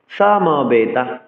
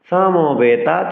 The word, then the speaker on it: সমবেতা: ছতে যাচ্ছি সামাবেতা ইউসাবাহা সামবেতা সংস্কৃত শ্লোক উচ্চারণে দন্তসকে এস এর মত উচ্চারণ করতে হবে সমবেতা বলতে হবে সমবেতা বলা যাবে না সবেতা চার অক্ষর ইউ সাবাহা